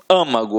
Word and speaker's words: âmago: Âmago, ó, é uma proparoxítona, então leva acento. Como é uma pronúncia fechada, né? Âmago, então acento circunflexo.